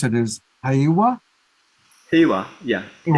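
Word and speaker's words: Heiwa: you pronounce it is hawawa yeah like a hey like hey all right so if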